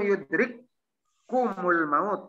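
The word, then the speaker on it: يدرككم الموت: Aina matakunu yudrik kumul maut. Yudrik. Yudrik kum el maut. Diizgomkan bacanya yudrik kumul maut. Kapnya dua.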